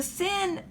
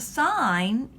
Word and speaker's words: sine: s I in and I've heard some students they call it the sin of a but we really pronounce it the sign even if it's abbreviated so si n e abbreviated si n another trig ratio is